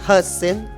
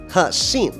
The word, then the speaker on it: Hexin: Did I pronounce it correctly? Hexin. Hexin.